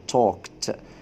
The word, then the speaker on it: talked: near her and talked، هنا الماضي واتنطقنا الدي او الاي دي، نطقناها بالته ضعيفة. ليه؟ لانها جاية بعد صوت الكه. توك، صوت الكه ضعيف، ما نيجي نحط له اي دي يتنطق بضعف، ينقول talked talked to her in a soft voice.